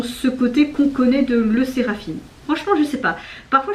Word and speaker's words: LE SSERAFIM: beaucoup plus jeunes que La Séraphine. Comme ça qu'on prononce, le Séraphine, pardon. Je sais pas pourquoi j'ai envie de dire là, mais c'est le Séraphine.